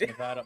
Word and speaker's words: Nevada: everybody says Nevada. Yeah. It's Nevada. I have family out in Nevada, so I've learned to say it correctly.